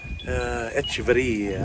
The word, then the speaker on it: Echeverria: Echeverria. I say it like Liz K because she taught me a lot.